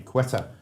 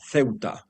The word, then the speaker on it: Ceuta: Indeed, the right pronunciation is Ceuta.